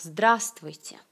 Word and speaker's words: здравствуйте: Alors, здравствуйте. Здравствуйте. Salutation la plus répandue, je crois. Здравствуйте. Il y a beaucoup de consonnes qui ne prononcent vraiment pas. Vous prononcez здравствуйте.